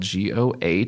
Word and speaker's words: Goh: So my last name is spelled Goh, pronounced go like green light go.